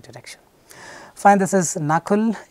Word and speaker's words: Nakul: Fine, this is Nakul, N-A-K-U-L. By the way, a lot, many people have mispronounced this.